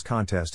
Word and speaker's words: contest: Phonetic Alphabet to pronounce contests have in mind that the size of the syllable indicates where the accent or stress is in this case the accent is in the second syllable corresponding to test verb